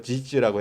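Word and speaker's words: 箕子: 왔다 창시자인 중국의 황태자 기자 중국 발음으로 지지라고 했는데 황태자 지지가 역사적으로 기록되어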